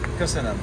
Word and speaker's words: Köszönöm: Köszönöm.